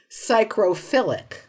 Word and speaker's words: psychrophilic: But Next word, psychrophilic. Psychrophilic. this sounds like It looks like psychophilic, except there's an R in it there.